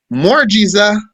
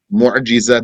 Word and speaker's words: mu'jiza: Mu'jiza, the mu'jiza is for the prophets. And the karama is for the saints. What's the mu'jiza? The mu'jiza is the crippler. We translate it as miracle. What's this mu'jiza that we translate as miracle?